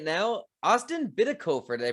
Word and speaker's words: Bitikofer: I have on Zoom with me right now, Austin Bitikofer. Did I pronounce that correctly?